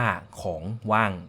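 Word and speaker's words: ของว่าง: สวัสดี ครับ ร้าน เค้ก ของ ว่าง ครับ อ่าน ว่า ของ ว่าง ครับ ขอบคุณ ครับ จริง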